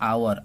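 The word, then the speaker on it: hour: में एच आया है, और एच जो कि इसका उच्चारण अप्रकट होता है, ठीक है, अप्रकट होता है। ये रूल्स भी हमारा है, कहता है। तो इसलिए हमारा जो उच्चारण होगा आवर, आ से हो रहा है, और आ जो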